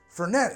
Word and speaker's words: Fernet: out o oh man that is you very much pronounce the tea fair I got to say don't taste much of the Coca-Cola fette is a powerful flavor